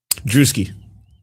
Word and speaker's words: Druski: is, by the way, is it Duski or Druski? Druski. Oh my god. All right. So, FYI, the video tomorrow, uh, I pronounced it as Drusky the entire time.